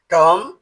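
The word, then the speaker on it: tomb: টি ও এমবি এর উচ্চারণ টম হবে না। এর উচ্চারণ হবে টম যার অর্থ হল গম্বুজ।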